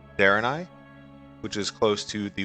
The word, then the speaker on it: Draenei: The kingdom looks like Draenei, which is Darenai, which is close to the World of Warcraft Draenei.